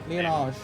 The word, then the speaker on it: Liyanage: It's like Liyanage. You pronounce it like with the R. Liyanage. Alright. It's like you pronounce it like with if there's an R in there.